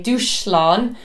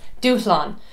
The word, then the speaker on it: dúshlán: me you're not saying douche lon it's not douche loan or something to do the shower it's Doosan so you don't hear that SH so an SH in